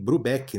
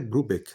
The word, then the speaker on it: Brubeck: Tem gente que que fala David Brubeck, né? Mas eu eu acredito eu que a pronúncia certa é Brubek, né?